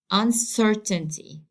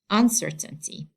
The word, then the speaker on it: uncertainty: So I have to pronounce it as uncertainty, uncertainty, uncertainty.